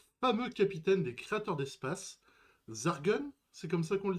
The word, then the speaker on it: Zargun: Eh ben on va partir avec Zargun parce qu'on aime prononcer les choses correctement ici.